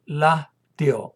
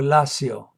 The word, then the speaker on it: Lacio: se llama hoy Italia, del Latio o Lacio, como se pronuncia.